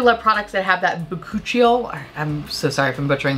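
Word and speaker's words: bakuchiol: fantastic this moisturizer is infused with bakuchio i think that's how you pronounce it computer it's pronounced but coochie thank you and this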